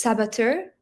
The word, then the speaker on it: saboteur: So it's saboteur. That's how you would pronounce it?